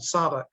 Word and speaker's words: Tsavo: They pronounce it, those T silence, called Tsavo. And Tsavo is home to